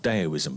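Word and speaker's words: Taoism: it's a Chinese culture called deoism but it's spelled tail with with the tea okay okay and it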